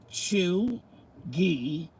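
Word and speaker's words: chuegy: the new york times truly pronounced chew ghee can be used broadly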